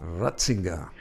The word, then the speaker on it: Ratzinger: Pronunciate el apellido de Riger en alemán, ¿verdad? Ratzinga.